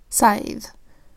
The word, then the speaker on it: scythe: We've got SCY. So because the C comes before a Y, it makes the soft C sound, S. The S also makes the same sound, S. They blend together into one sound, S. The Y makes a long I sound, I, because it's in a word with silent final E. The TH makes the voice TH sound, th.